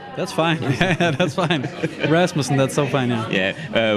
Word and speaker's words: Rasmussen: Is that how you pronounce it? That's fine. Yeah, that's fine. Rasmussen, that's so fine.